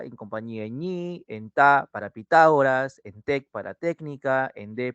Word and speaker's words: Pitágoras: se separa a ver Pitágoras en la palabra Pitágoras Cuál es la sílaba que me presenta la mayor intensidad No te olvides la tilde Cuál será en Pitágoras correcto ta excelente ta en técnica Cuál será